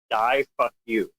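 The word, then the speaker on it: Daifuku: One of the names of the robot company from Japan uh is literally pronounced die fuck you.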